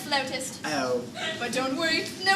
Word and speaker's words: flautist: Well, darling, if you pronounce it flutist, everyone will laugh. It's pronounced flautist.